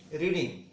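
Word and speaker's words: read: करेंगे, Sonam likes being, रीड का third form, रीड, रेड। Spelling आपका सेम होती है लेकिन प्रोनाउंसिएशन आपके डिफरेंट होते हैं।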